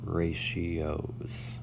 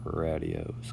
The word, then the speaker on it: ratios: lesson one on ratios that word is pronounced ratios not radios go ahead and get